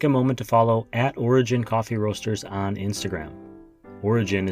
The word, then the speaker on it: Origen: Origen, or most people right here in the United States say Origen, like Origin, but Origen.